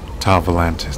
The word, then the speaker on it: Tau Volantis: Tau Volantis, that's what it's pronounced.